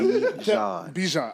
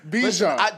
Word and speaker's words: Bijan: We're going to start pronouncing his name correctly on this podcast. All right. Bijan. All right. Like the mustard. Bijan.